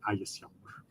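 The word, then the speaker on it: Ægishjálmur: Because in modern Icelandic, now those vowels have merged, you've got to kind of keep this consistent through the video, I'll use that modern Icelandic pronunciation because it's what most people have heard, and I'll say Ægisjalmur.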